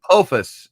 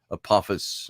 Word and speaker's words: Apophis: hasn't taken it down yet uh so oh apophis is the uh apophis however you pronounce the o is the asteroid says audrey